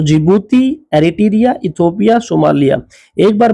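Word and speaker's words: Djibouti: जिबूती, डी का आप देख रहे हो, DZIBOUTI, ये इधर देखिए, इधर इधर इधर। तो डी साइलेंट है, जिबूती।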